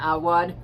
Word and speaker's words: Awad: And then I have All's Well by Mona Awad. I believe is how you say the author's last name.